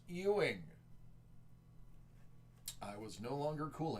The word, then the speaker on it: Ewing: to check out my Ewings and then I was corrected and told its pronounced Ying I was no longer